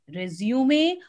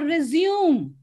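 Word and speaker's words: résumé: letters or job applications do we say resume or resume so the first one is correct it is resuming let's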